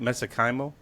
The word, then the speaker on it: mesenchymal: Mesenchymal? Yeah, it's pronounced so many ways, but the way I pronounce it, mesenchymal stem cells, or MSC.